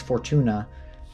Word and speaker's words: Fortuna: Fortuna or Fortune Fortuna not sure what her how you say her name I think it's Fortuna but she's the Roman